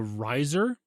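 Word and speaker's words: Rizr: But it's called the Riser. Kind of like how the Razor is spelled R-A-Z-R. This is R-I-Z-R.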